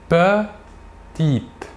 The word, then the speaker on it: petite: En fin de mot, le E ne se prononce pas. Il est dit muet. Nous dirons donc petite.